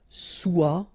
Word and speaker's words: soit: So être will become soit, remember final S is not pronounced, soit.